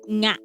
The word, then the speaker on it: nga: So it's NG, but we pronounce it nga. Nga. Like there's like a weird sound. Nga. Nga. Nga. It's like you're saying unga. You're saying the word u in front of it.